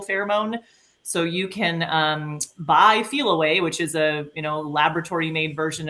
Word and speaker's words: Feliway: And then if there is a recent move and like a downsize, I'm a believer in the product Feel Away, which is spelled FELIWAY.